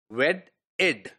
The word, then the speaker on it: wedded: Now, and when we add ed to it, it is pronounced as wedded. Remember, two letters are always once pronounced, so we do not pronounce double d of wed. So it is wedded.